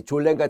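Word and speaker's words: Sollen: 그래서 이 졸렌과 자인이라는 게 딴 게 아니라 이거 선생님 왜 S 발음을 하네? 그럼 뭐 독일어 하시는 분은 잘 아시겠지만 독일은 S가 Z 발음이 납니다.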